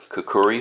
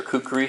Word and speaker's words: kukri: shape more like a kukuri style blade I guess or kukri however you want to pronounce that this is a 65